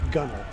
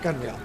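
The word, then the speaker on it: gunwale: please so before it's it's pronounced gunnel gunnel not gunil gunnel thank you it hurts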